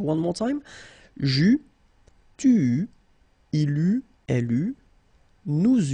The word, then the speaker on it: eus: that for each forms you will pronounce this combination of vowels e, u. You don't pronounce it like normally we would pronounce it e, okay, but we will pronounce it u all the time.